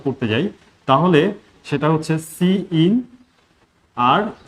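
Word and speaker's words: cin: সবগুলোই ছোট হাতের হবে, উচ্চারণ হবে সি ইন সি আউট, যদিও একটা শব্দ সি আই এন, কিন্তু উচ্চারণ করতে হবে মানে আলাদা আলাদা হবে, সি ইন আর এটা হচ্ছে সি আউট।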